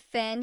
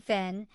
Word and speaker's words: Finn: St Patrick chapter 1 Finn pronounce fune to rhyme with tune got his first training